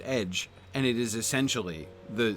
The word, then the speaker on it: ecg: that's why the for the word ECG is pronounced edge and it is essentially the same word as